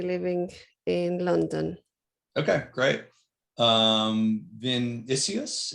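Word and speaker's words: Vinícius: Vinicius, if I'm pronouncing that correct. Yes, you're almost correct. I'm Vinicius. I'm from Brazil.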